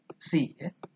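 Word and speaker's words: psi: kita gunakan fungsi besi tulisannya pesisir Tapi bacanya si yang kita akan banyak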